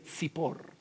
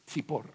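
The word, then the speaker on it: צִפּוֹר: Pajarito se dice Zipor. Zippor.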